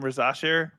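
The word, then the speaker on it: Risacher: Risa Shea. French.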